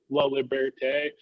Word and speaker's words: Laliberte: got it down um i'm trying to actually pronounce it the proper like french way of lovely bertay it's like you can roll an r into it a little more but i don't know